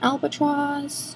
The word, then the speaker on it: Albatross: highlighting blush powder and its an albatross see that's how you say it it's a really